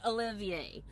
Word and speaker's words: Oliver: and go see Cynthia Olivier. It's spelled Cynthia Oliver, but I guess it's Cynthia Olivier.